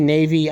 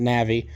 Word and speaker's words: Navi: bike this is a Honda Navi Navi Navy I don't however you want to pronounce it I've heard most people pronounce it Navi um it's got some